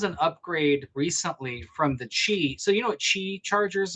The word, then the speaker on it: Qi: Well, there was a there was an upgrade recently from the chi.